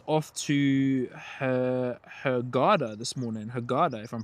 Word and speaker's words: Hurghada: Hurghada, if I'm pronouncing that correctly. Hurghada.